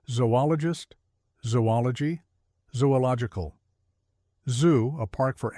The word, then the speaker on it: zoology: However, the two O's should be separated as in cooperate even though no hyphen is used in the spelling to indicate such separation. Say zoologologist, zoology, zoological.